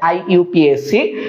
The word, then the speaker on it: IUPAC: IUPAC বা আমরা এটাকে IUPAC বলি, যদি এটা সঠিক উচ্চারণ হচ্ছে IUPAC।